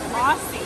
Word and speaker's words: Aussie: It's pronounced Aussie.